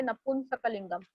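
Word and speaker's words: नपुंसकलिंगम्: प के ऊपर एक अनुस्वार है तो आप बोलोगे नपुंसकलिंगम.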